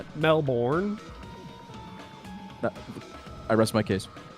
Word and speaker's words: Melbourne: What's the What's the It's That's not That's like the American way to say it. But I'm an enlightened globalist. It's Melbourne. Melbourne. That's how you say it.